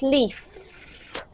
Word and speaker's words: leaf: But when you say the letter V, you have to expel air, but you also have to make a sound with your throat, right? Leave. Okay? When you have an F, a F, there's no sound coming out of your throat, so it's leaf. Okay? So the difference is leave and leaf.